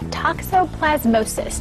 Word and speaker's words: toxoplasmosis: Pet talk this morning, Toxoplasmosis.